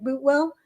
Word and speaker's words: Boutwell: With Boutwell, I mean, it's like Bootwell.